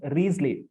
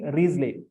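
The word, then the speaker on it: Wriothesley: h e s l e y it is pronounced riesley t-h-a silent Henry riesley Earl of Southampton or it could be William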